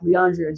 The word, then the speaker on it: Leandrea: Leandrea. I like cuz your name is not Leandre like Leandrea Johnson, the gospel singer.